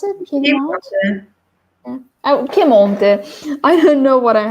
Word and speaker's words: Piemonte: Is that how you pronounce it? Piedmont? Yeah. Oh, Piemonte.